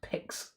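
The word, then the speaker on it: pyx: But yeah, we've also got the trial of the pics. I think it always is it pronounced pics? Oh, it is pics, isn't it?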